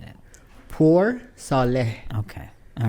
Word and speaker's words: Poursaleh: Poursaleh.